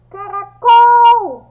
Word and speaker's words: caracol: Qual é a sílaba mais forte de caracol? A sílaba mais forte é o col. Por quê? Porque quando eu pronuncio, o som do col é o mais forte.